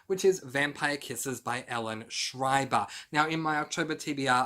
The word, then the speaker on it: Ellen Schreiber: reading in october which is vampire kisses by ellen schreiber now in my october tbr i said her name is ellen schraeber i pronounced it incorrectly so that's why i'm correcting